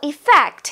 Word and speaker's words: effect: While effect has E, short E, at the beginning of the word. I mean, the first letter is E and the first sound is E, but a short one.